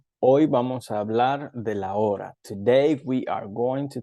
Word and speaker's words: hora: Remember the H in Spanish is silent. So it's not hora, it's hora.